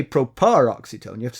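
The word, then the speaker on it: proparoxytone: So if you it's stress on the antepenultimate or third to last.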